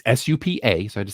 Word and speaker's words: Supercell: That it's SUPA, so I had to say it correctly.